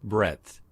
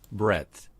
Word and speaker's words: breadth: Now, again, I can click on the arrow and hear one pronunciation. breadth, breadth, breadth, Okay, breadth, breadth, breadth.